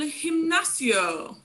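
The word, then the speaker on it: gimnasio: have el himnacio though in spanish uh the g's are often um well g's combined with certain vowels are often uh pronounced with the soft sound the h sound and this is one of those occasions so it won't say you won't say nacio you'll say him like with an h him nacio for this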